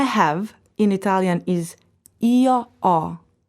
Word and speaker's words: ho: For example, I have in Italian is io ho. You see the letter H written, but you don't ever pronounce it.